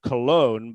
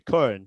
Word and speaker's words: Köln: a number of years, people want to call them Cologne, but it's actually Köln. And I know that Köln is hard for people to say, but but Köln, yeah. I mean, I think most people can do it if they really try, but it's easy to